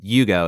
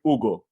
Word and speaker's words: Hugo: now so uh and you're saying Yugo is that the correct way to say it I apologize if I butchered your name that's the the Americanized way uh but in Brazil we the AG is silento just go straight Ugo that's that's the Brazilian way I I like that